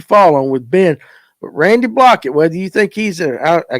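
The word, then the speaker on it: Blaukat: on with Ben Randy blockett whether you think he's I guess is that how you pronounce his last name is it block or blockett it's blockett Uncle Randy Uncle Randy yeah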